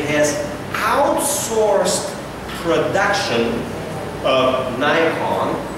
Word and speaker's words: Nikon: has outsourced production of Nikon sometimes you pronounce Nikon that's the American or Nikon you know Nikon right Nikon in American is Nikon okay so you uh